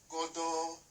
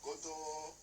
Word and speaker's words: godo: The key and the vowel O we pronounce go, e.g. godo, onion, godo.